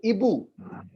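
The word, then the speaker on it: hibou: Hibo nahi hoga. In French, H is there, but we do not It is pronounce silent. H. We go for the next vowel. So Ibu.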